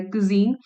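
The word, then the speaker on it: cuisine: In north America, Japanese, Chinese and Thai कुजीन, the word is कुजीन्स का pronunciation बहुत amazing है, कुजीन, have all enjoyed their day इन द सन।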